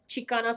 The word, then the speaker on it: Xicana: Chicana spelled with an X, like the Mexica.